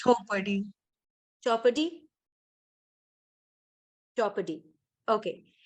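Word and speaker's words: Chhaupadi: might already be aware of this practice called Chopadi. Am I pronouncing it right? No? Yeah, How it's do you pronounce? Chopadi.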